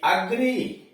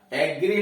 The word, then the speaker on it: agree: AGREE अग्री, अग्री का मतलब सहमत होना, एग्री नहीं अग्री, अग्री का मतलब सहमत